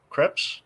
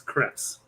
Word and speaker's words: crepe: not sure either but krept is technically the proper pronunciation of it what is it is it what is it Crepes yeah remember I took French I know that's why I'm asking so it's Crepes yes have I been saying it right yes it's craps okay there you go it's